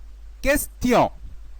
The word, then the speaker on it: question: Mais nous avons cas particulier. Le mot question, question. On écoute le son T. Question.